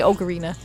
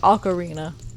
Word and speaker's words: ocarina: ocarina of time I used to always say ocarina apparently it's pronounced ocarina apparently I was wrong I've been wrong for